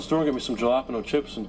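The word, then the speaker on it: jalapeño: It's a J's like an H, Ricky. Jalapeno.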